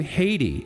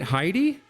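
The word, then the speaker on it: Heidi: anything like this before why would you pronounce her name Haiti isn't it heidy all right uh happy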